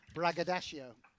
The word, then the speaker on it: braggadocio: braggadocio. agreed. That's how you pronounce that word.